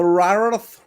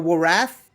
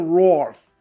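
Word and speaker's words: Wrarth: For the longest time I called them the Rarath Warriors. On the Big Finish they called them the Warath, but I guess on the show they're just calling them the Roth Warriors.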